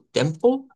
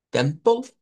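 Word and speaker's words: Tempel: Y que en alemán, la vamos a decir como temple, temple, no suena la E que está ahí, y decimos Gottes, temple Gottes.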